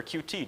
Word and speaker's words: Qt: that why didn't we use cute or QT depending on how you like to pronounce it uh the licensing is